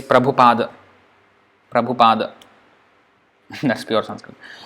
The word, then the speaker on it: Prabhupada: Haku the earth at the end is not pronounced that's why you you sometimes see prober you see Prabhupada when we say Prabhupada why we say Prabhupada